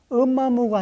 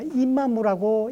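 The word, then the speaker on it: 飮馬無: 그때 역시 엄마무가 아니라 임마무라고 읽어야 되는 것이죠.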